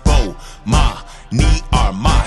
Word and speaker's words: Bomani Armah: announcements imma say my name so you can pronounce it oh ma me are my shout out to early advisors thanks for having